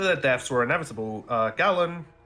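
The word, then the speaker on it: Galan: deaths were inevitable uh gallon I'm not sure if that's entirely pronounce it it's a g a l a n that sounds like how you would say it that's about right or maybe if you're like super British galain no I'm British I'm out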